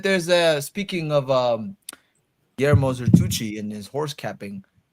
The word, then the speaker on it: Guillermo: they're Tucci yeah but his first name is like gallerma Guillermo that's what it was yeah does anyone know